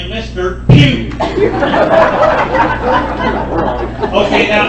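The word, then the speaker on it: Pugh: a name like Mr Pew okay now it's spelled it's not spelled p h e w it's spelled p u g h so make sure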